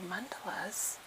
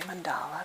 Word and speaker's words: mandala: So, mandelas um and some people say mandala, but um the uh actual pronouncing dictionary says mandela.